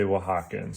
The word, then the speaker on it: Oaxacan: where they come from, we say Oaxacan, so we just add an N to it. I am going to do a little demonstration here of a penguin in the style of Oaxacan wood carvings.